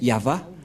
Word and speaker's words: Yahvah: Yod c'est l'alphabet hébreu qui est prononcé yava et dans Genèse 2133